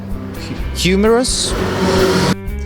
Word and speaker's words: humorous: Humorous. And this is how it should be pronounced.